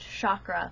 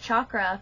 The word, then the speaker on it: chakra: am correcting me because I first learned that it was pronounced chakra only recently have I started hearing people pronounce it chakra now I looked it up and that is correct and that is the